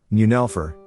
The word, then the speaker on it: Neunelfer: The Porsche 911, pronounced 911 or in German, Neunelfer, is a two-door 2+2 high-performance rear-engine sports car introduced in September 1964 by Porsche AG of Stuttgart, Germany.